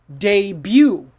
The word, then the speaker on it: debut: another one is this how do you say this is it d but oh my god don't say that his his big d but no no this word is debut what wait a second